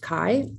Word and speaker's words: chi: It's the Greek letter X, but it's pronounced chi.